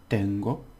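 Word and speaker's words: tengo: okay now this is has two syllables so the first one has the stress Tango Tango okay which is just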